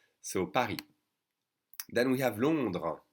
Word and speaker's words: Paris: you should know that you don't pronounce the s and so it is